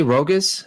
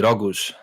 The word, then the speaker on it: Rogoz: Rogos. Rogos. I say Rogus in the original Polish way. It would be roguous.